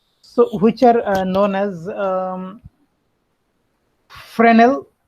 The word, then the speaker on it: Fresnel: which are known as friend l f r e s and l so it's it's a French word so it's pronounced as